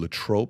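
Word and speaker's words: Latrobe: is from L I would have never known lat tro and I probably would have butchered how to pronounce it if you wouldn't have first said lat trro I would have said lob yeah I would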